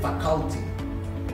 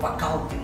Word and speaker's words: faculty: syllables and syllabic stress he said faculty there is nothing called facalty you stress the first syllable right there and lastly